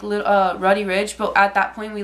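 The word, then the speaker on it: Roddy Ricch: So we watched him, and then after that, it was, like, Roddy Ridge, but at that point, we, like, went to go eat.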